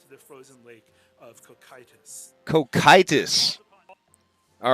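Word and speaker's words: Cocytus: that's pretty cool wow learning stuff see how pronounced head of the trader Boca condemned the frozen lake of kokitis cokitis all right we got it cokitis cool Kai tus cheat sheet all right okay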